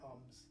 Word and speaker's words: Om: first, followed by 3 Oms. And imagine it's spelled A-U-M. This helps the sound go all the way from the back of the throat to the front of the lips.